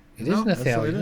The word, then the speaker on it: Nathalie: That's or did he spell it wrong? It is Nathalie.